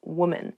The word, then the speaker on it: woman: Even though the singular and the plural form of women and woman have the same spelling at the beginning, W-O-M, the pronunciations are different. Woman, women.